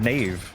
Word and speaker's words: knave: I mean, why put the K in front of knave, and yet it's still there?